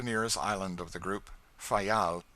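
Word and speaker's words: Fayal: island of the group fail the people there pronounce it file and put the accent on the first syllable we anchored in the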